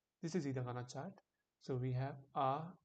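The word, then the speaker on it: あ: So this is not a car, but why? A is pronounced like A. Like when you come to a realization, it sounds like ah in the car.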